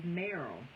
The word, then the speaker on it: Meryl: My name is Meryl." "What now?" I asked. "My name is Meryl." "Oh, yes, honey, that may be," I said, "but Merle rhymes with girl, so it's Merle, girl."